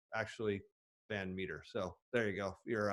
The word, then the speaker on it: Van Metre: on twitter at uh even though it's it's mispronounced this at metra m-e-t-r-e-even though it's actually band meter so there you go you're uh your fans